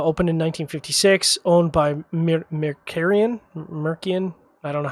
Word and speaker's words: Mercian: By the way, I think it's just Mercian. I don't think it's There's no hard C.